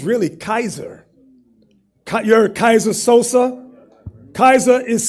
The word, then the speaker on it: Caesar: So now what Yuri did, they want us to use the word that pronounce it Caesar. They're telling you it's really Kaiser.